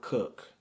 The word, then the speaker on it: Coke: Edward Cook is spelled C O K E like Coke but it's pronounced Cook.